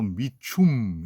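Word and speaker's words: Mitchum: 근데 이 영화는 어떤 영화냐면 일단은 로버트 미첨하고 관련이 있어요. 제가 프랑스에 가서 보니까 TV를 트니까 나올 때는 거기는 전부 자기네식으로 발음을 해서 호베하고 미춤 이렇게 발음을 하더라고요.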